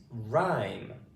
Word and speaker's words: rhyme: Next one is rhyme. Okay. Rhyme. R I lot going on with this word so we'll go through it slowly. Okay. So R the H is silent.